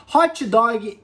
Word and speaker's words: hot dog: qualquer cidade do Brasil mas quando você for para fora fale hot hot hot dog por cima de Oi e o g são completamente silenciosa então hot-dog hot-dog bom galera é isso